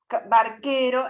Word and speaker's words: barquero: Ante las vocales E, I, el sonido K se representa mediante la consonante Q seguida de U muda. Nunca se escribe Q sola, ni nunca suena la U cuando acompaña a Q.